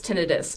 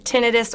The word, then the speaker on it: tinnitus: and treatment what is tinnitus and what causes it well I'll start by explaining tinnitus or tinnitus as an okay pronunciation of that word that's the number one